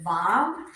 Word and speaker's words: Vav: So the first page, or the 6th one on page 23 is a vav. It tells you how to pronounce it. Vav, as in V-A-V. Actually, it says V-A-H-V, and it shows you how to write it.